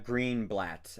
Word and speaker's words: Greenblatt: Yeah, like because Sasha, played by Ariana Greenblatt, I believe is how you pronounce her last name.